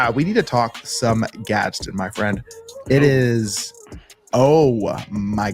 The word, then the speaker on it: Gadsden: Gadsden. Make sure I pronounce that second D correctly. Yeah. Gadsden.